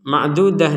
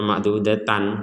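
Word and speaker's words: مَعْدُودَة: bentuknya bulat seperti ini maka kita membacanya sebagai huruf ha ketika kita berhenti ma'dudah ma'dudah jadi jangan dibaca ma'dud Ta atau ma'dudatan nah tidak madudat nah tidak kita tidak membaca ma'dudat karena di sini huruf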